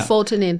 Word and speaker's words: mebufotenin: Okay, how do you pronounce that? I've been trying to figure it out. Mebufotenin.